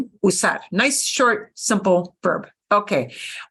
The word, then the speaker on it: usar: might mean USA usar be careful not to anglicize this one not use our usar nice short simple verb